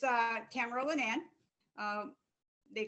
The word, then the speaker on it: Tamara Linnan: yourself welcome you got it right it's uh tamara lynann um they call me tammy girl for those people who can cannot pronounce tamara i really appreciate you having me